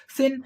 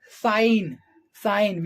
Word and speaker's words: sign: be similar to this sin but it is not why because here g is silent but it is but